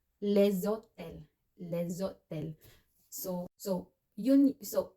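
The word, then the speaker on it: les hôtels: Kaya naman pag plural na hotel, maraming hotels, the hotels in French we say leszotel.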